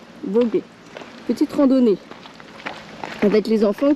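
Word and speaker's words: Vogüé: C'est ? Voguë ou ? Ça se prononce ? Voguë.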